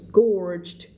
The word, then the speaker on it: gorged: up many secrets listening while the Nazi soldiers gorged คำนี้ออกเสียงว่า gorged ได้ยินเสียงจบไหม gorged themselves on cakes and tarts เพราะว่านางก็แอบฟังไงทหารมันคุยกันใช่ไหมนางก็แอบฟังตอนทหารมันนั่งกินเค้กกิน tarts กันอยู่ขอบคุณสำหรับหัวใจค่ะขอบคุณสำหรับการติดตามด้วยนะคะ thank you ค่ะใครเข้ามาใหม่นะมันเป็นไอ้นี่กันได้นะคะหัวใจสีส้มข้างบนนะใครเพิ่งเข้ามาใหม่นั่งฟังกันก่อนก็ได้นะถ้าใครอยากเรียนรู้ออกเสียงตามนะจ๊ะThere was Mr.